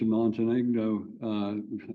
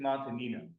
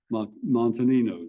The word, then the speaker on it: Montanino: Montenegro, however, I'm sorry, I apologize for, how do you pronounce it? It's Montanino. Montanino.